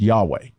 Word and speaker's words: Yahweh: grammaton Yahweh was never lost the name was pronounced Yahweh it was regularly pronounced this way until at